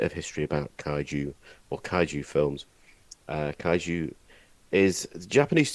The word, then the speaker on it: kaiju: a teeny bit of history about kaiju or kaiju films, kaiju is the Japanese term that is commonly associated with media involving giant monsters. It literally means a strange beast. Am I pronouncing kaiju right?